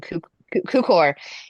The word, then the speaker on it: Cukor: And so it's done by it's directed by George I'm going to say his name Tukor. wrong, Cukor.